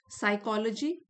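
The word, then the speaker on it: psychology: साइकोलॉजी study of human mind and behaviour P silent है इसमें silent स्कल्पर स्कल्प्टर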